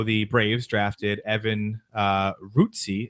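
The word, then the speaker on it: Rutckyj: Braves drafted Evan uh Rooty is actually how you pronounce his name doesn't look anything like that but the Braves drafted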